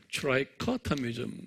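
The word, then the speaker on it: trichotomy: 트라이코토미즘 그래요. 트라이코토미즘 한번 발음해 보세요. 액센트가 커에 있어요.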